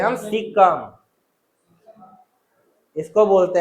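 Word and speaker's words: caecum: इसको बोलते हैं हम सिक्कम इसको बोलते हैं हम सिक्कम सिकम का स्पेलिंग होता है सी ए ई सी यू एम सिकम ठीक उसको हम क्या बोलते हैं सिक्कम बोलते हैं छोटी आंत का एक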